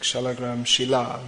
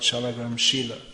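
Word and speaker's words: śālagrāma-śilā: character sheila means stone just like shalagram shilla not shalom sheila as it's sometimes mispronounced tanka means by his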